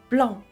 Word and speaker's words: blanc: 블렁 블렁 한국의 수많은 브랜드들이 블랑을 써요. 블랑 뭐뭐 뭐뭐 블랑 뭐뭐 블랑 블랑블랑 발음은 블렁 엉에 더 가까요?